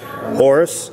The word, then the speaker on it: Aorus: Orus, which is spelled AO R U S, is a new